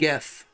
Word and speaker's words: Gef: Also, it's spelled G-E-F. Oh, it is. It's GEF. My bad. Geff.